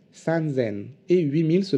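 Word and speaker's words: 三千: rock attention deux petites exceptions encore 3000 se prononce ce and zen et 8000 se prononcent race selle ok les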